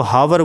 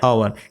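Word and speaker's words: hour: से लिखेंगे ओवर इसको बहुत से लोग गलत प्रोत्साहित करते हैं इसको हावर बोलते हैं तो हावर नहीं होता यह पॉवर होता है यहां पर ऐड साइलेंट रहता है इसका और से निकलता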